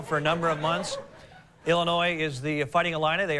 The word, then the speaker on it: Illinois: Say hello to ILLINOIS RIGHT HERE. BY THE WAY, I HAVE ACTUALLY heard some educated people say Illinois. It makes me cringe. You cannot say Illinois. The S is silent. Illinois.